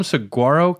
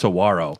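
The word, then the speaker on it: saguaro: I call them Sagarro cacti, but when you go there, they actually pronounce Sawarro. Sawarro. So either way, I'm wrong. Oh, the G is silent.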